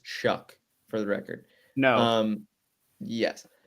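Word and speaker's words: Shough: It's Tyler Shaw, Louisville quarterback. I believe it's pronounced Shuck for the record.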